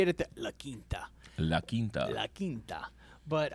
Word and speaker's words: La Quinta: Not to be mean or anything, I can't even pronounce some English words myself, but it's actually pronounced La Quinta.